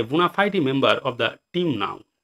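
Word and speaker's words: bona fide: বোনাফাইডি। দেখো উচ্চারণ বোনাফাইডি, বোনাফাইড না কিন্তু বোনাফাইডি।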